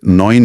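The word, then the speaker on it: neun: आखिरी रूल जिसे हमने नाइन में देखा था। इ यू का साउंड हमेशा ओय होता है। नोइन की तरह। बिल्कुल। जैसे नोइन में इन पांच रूल्स को ध्यान में रखेंगे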